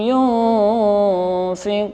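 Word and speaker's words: يُنْفِقُونَ: Yunfikun, jangan yun, jangan yun.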